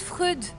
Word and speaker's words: Freud: Ça se prononce Freud.